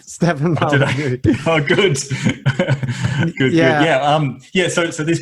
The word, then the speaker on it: Molyneux: That's right, Stefan Molyneux.